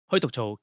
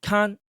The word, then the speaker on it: 間: The character "Ma," in its phonetic 'On'omi reading, is pronounced as "Kan" or "Ken." In its native 'Kun'omi reading, it is known as "Aida" or simply "Ma."